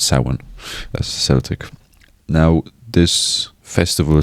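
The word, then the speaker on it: Samhain: It's it seems like it it's going to be pronounced Sam Hayne, but it's sin.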